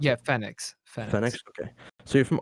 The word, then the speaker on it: Fenneix: and then you rebranded to Fenneix, or how do you pronounce Yeah, it? Fenneix.